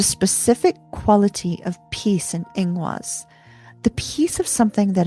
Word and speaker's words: Ingwaz: Ingwaz, i n g w a z, is the seed held in sacred gestation.